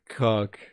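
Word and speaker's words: Koch: It's pronounced It's pronounced Coke. Look, if it's got a I got to know. Okay. It's said as coke. Are you sure? Unfortunately, it's pronounced coke.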